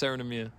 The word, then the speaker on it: Seren Emyr: It's pronounced Sarinamia. So, it's a Welsh name.